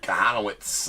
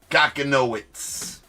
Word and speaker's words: Kahanowitz: Well, Jack Kahanowitz on the auto coming right out the top there. Going to the Angels. Kakanoitz. That's not how you pronounce it, but it's way funner.